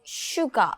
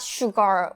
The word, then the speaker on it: Suga: So, why is his name Suga, not Sugar or someone? Suga. I I first when I saw the Korean name Suga, I thought this sugar, but it's not sugar.